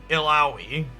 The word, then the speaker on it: Illaoi: ill right healing damage and defense ill owie illaoi got it illaoi allows her to read and